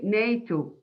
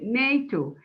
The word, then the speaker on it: NATO: Okay, and we say NATO, not N-A-T-R-O, no, we say NATO.